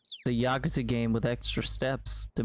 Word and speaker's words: Yakuza: Also, it is pronounced Yakuza.